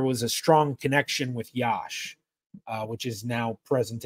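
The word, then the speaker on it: Iași: now present a malova so yasi I know a lot of people will see it and say it like that but one of the towns I actually know how to pronounce somewhat correctly Yash um I have Croatian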